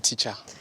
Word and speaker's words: Teach'Ar: Teacher ou bien teach et art? C'est quoi la bonne prononciation? Après des analyses, nous avons opté pour teacher. Tout simplement. Teacher. Mais c'est écrit teach et art.